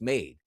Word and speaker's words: Made: Now, this really is the pronunciation isn't Jesus made, when quite frankly it should be. As I'm looking at the correct pronunciation, Joe, of the last name, it's Made.